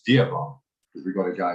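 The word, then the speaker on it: Dewan: Yeah, D-E-W-A-N. That's Divan.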